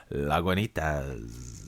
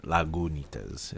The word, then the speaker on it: Lagunitas: because we're speaking of laganas lagunas is how they say you should be pronouncing that uh Brandon is